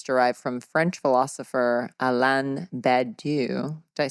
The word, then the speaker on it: Badiou: It's because the title is derived from French philosopher Alain Badiou. Did I say it right? How how do you spell it? B A D I O U.